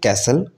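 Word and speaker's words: castle: लाएगा इसी तरीके से कैसल कैसल में भी टी साइलेंट है क्रिसमस में भी टी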